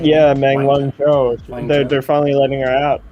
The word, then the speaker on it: Meng Wanzhou: Yeah, Meng Wanzhou.